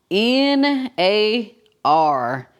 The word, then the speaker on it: NAR: all right the big n a r how you pronounce it Nar Nar okay cuz I think I I called it something different but Nar what you stand for